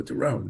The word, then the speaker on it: Doron: So it took 57 years for people to pronounce my name correctly, because once they saw that, they're like, "Oh, Doron, Doron, Doron."